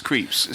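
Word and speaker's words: Krieps: But also Vicky, I'm going to find out how to pronounce her surname. But I'm pretty sure it's Creeps. I think it is Creeps.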